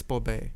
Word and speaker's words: Borbet: It's the Borbet or Borbet, I don't know how to pronounce that. it's Borbet.